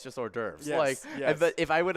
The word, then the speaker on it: hors d'oeuvres: and then I was like, oh, it's just hors d'oeuvres.